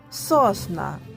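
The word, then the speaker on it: sosna: буде йодуа ялиця друга сосна звучить так як у нас українською сосна тільки міняється наголос і остання швер ялина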